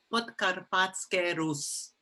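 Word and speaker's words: Podkarpatská Rus: You'll be happy to know the way that the Czechs pronounce that area. It's called Podkarpatské Rus.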